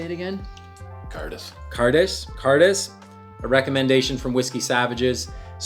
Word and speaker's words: Cairdeas: Cairdeas.